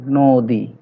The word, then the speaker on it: নদী: এরপরে দেখো নদী, যদিও নর সাথে অ আছে কিন্তু আমরা উচ্চারণ পাচ্ছি নো, ওকার দিয়ে পাচ্ছি নদী।